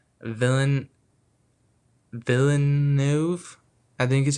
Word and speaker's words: Villeneuve: Um yeah, and the director is Dennis, and I think I'm saying Villain Villeneuve, I think is how you say it.